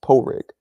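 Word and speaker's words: Pádraig: uh my other boy's name is Patrick it's pronounced poig how do you pronounce Owen in Irish galic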